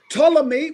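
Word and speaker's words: Ptolemy: So Tommy, which is spelled P T O L E M Y.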